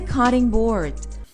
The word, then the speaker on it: cutting board: graTing carrots it's a cutting board No. We would refer to that as a CUTTING board, so we would put the emphasis on the adjective rather than the noun and when you think